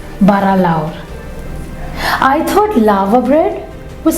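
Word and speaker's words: bara lawr: Called bara laur, which rhymes with maur, which simply means big or great?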